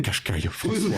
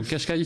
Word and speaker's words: Qashqai: vous connaissez le mot nettement françois survenant le qashqai désolé qashqai qui arbore la nouvelle identité de nissan qui